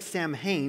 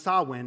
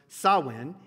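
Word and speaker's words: Samhain: Celtic Festival of samn looks like Sam Hae but it's pronounced sawin actually S A MH i n but it's pronounced sawin it's a Gaelic word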